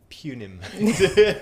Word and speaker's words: punim: Punim. I think you'll find it's the British pronunciation.